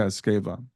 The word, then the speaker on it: Esgueva: like to welcome to grief to growth escava thank you so much Brian and I can believe you you are able to pronounce my surname well oh well thank you